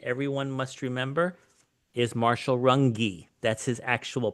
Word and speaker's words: Runge: One such person everyone must remember is Marshall Runge. That's his actual pronunciation, the author of The Great Healthcare Disruption.